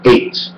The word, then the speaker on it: eight: total will equals 78 the g& h letter that is silent most the time in the English alphabet even in the word eight e i g HT because you at and